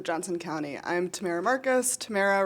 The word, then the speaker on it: Tamara: Tamara rhymes with Sarah, but Tam is great.